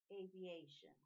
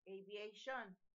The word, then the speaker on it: aviation: Si se fijan, la acentuación va a ir antes de shun. Aviation. No como en español, aviation.